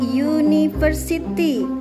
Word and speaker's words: University: kata Bendanya menggunakan awalan huruf vokal tetapi cara bacanya konsonan yaitu University didengar dibaca dengan awalan y tahu contoh lain